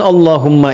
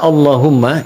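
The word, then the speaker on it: اللهم: Maka adabnya ketika diucapkan Allahumma itu jangan meninggi.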